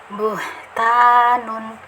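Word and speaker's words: بهتان: Nah, ketika kita pengucapan ta itu ringan. Ta ya, jika kita rasa-rasa ya, kita rasakan buhta. Nah, ringan sekali ya, pangkal lidah ketika pengucapan ta dia lurus, datar ya, datar, jadi tidak berat ya, buhtanun.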